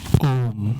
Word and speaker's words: ओम्: ओम एक ऐसा मंत्र है जो तीन ध्वनि से मिलकर बना है। अकार, उकार और मकार। जब हम ओम का उच्चारण करते हैं तो अकार उकार और मकार की ध्वनि एक साथ मिलती है। जिससे ओम की ध्वनि बनती है।